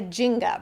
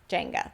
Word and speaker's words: Jenga: took that like a Ginga right I think of it like Jenga Jenga that's how you say it the little wooden pieces